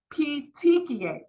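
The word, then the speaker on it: petechiae: need to recognize these words this word is pronounced P pet TI p p t c h i a e PTI the example of peia is also right here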